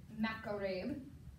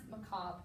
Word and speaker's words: macabre: man named camille sasson it kind of looks like it says macarem the way it's spelled but it's actually pronounced macabre because it's from france right now this piece